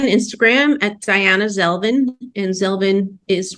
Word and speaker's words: Zelvin: at diana zelvin and zelvin is rhymes with melvin but with a z um so are kelvin